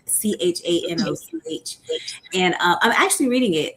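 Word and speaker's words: חנוך: And when you read it in the Hebrew, it's not even pronounced Enoch. It's pronounced Shanoch, Chanoch.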